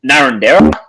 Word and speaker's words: Narrandera: Miral, Narrandera, as most people call it, Narrandera. They pronounce it as it looks.